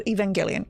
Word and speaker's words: Evangelion: Oh, so it's a Japanese title, so that's the proper noun with a hard G. Okay, gotcha. So Evangelion.